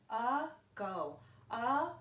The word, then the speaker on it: ago: hear in the first syllable these words are pronounced differently about uh go round the a is not pronounced like we